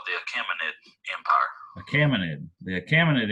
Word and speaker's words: Achaemenid: babylonian empire and it's also called that acme acmanid i'm sorry acme net i think i'm saying